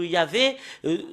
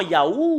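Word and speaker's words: יה: C'est Yah qu'on le prononce dans la langue hébreu. Parce que voilà, le fait de le lire en hébreu, dans la translittération, c'est Hallelujah. Et quand les Hébreux le prononcent en Ya, bah il faut pas le changer avec d'autres choses. Il faut pas le changer en Yahoo ou d'autres choses.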